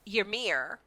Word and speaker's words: Ymir: Then I said in the show, and I'm like, all right, Emir, because I know there's like another name, like the name Yvonne, but it's spelled Yvonne.